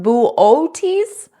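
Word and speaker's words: Boötes: he said booties void I think it's pronounced bootes booes bootes booes it's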